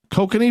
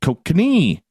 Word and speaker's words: Kokanee: Kokanee beer. Pardon me, pronounce that wrong. Kokanee.